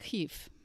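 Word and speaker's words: Kiev: As a Russian major and as an American, I grew up using the now obsolete Russian pronunciation of that city, the capital of the Ukraine. that is sometimes spelled K I E V in the US.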